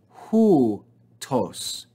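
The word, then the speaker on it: οὗτος: So we would read this as hu, and the second syllable as tos. This word is read hu, tos.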